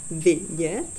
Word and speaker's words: vidět: Kalau kami orang Ceko pasti tahu bedanya, dan kalian harus belajar juga mengucapkan dalam kata vidět itu harus ada i yang jelas, vidět ya.